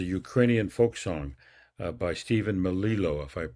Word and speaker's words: Melillo: program is a Ukrainian folk song by Stephen Melillo, if I'm pronouncing it right. Stephen Melillo, yes. Melillo.